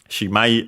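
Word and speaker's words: しまい: Shimai on its own, unaccented, means, of course, end, close, finish, termination.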